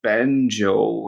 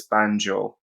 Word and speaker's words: Banjo: a wild guess, das banjo. And this is one of the few times where the letter J is pronounced as J in German because it's a foreign loanword, das banjo.